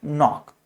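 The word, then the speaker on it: knock: और ये हो गया नो नाइट नॉक ऐसे। ये मुझे याद है कनिक पढ़ा जाता था।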